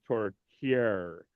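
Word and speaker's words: tourtière: The reason why it's tortillere is because the accent is on the grave. E, the first E, or the first E that has the accent grave. That says it's tortillere.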